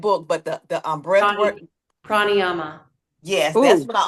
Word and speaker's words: Prāṇāyāma: Pranayama.